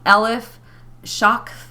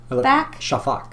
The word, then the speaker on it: Shafak: I'm going to try really hard not to mispronounce her name. Um Ell Shak Shafak Shafak Shafak Shafak um Elef Shafak.